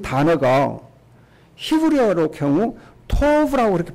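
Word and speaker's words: טוב: 근데 좋았다는 이 단어가 히브리어로 경우 토브라고 그렇게 발음을 하는데 토브라는 단어가 영어로 번역하면은 good 이라고 번역해요.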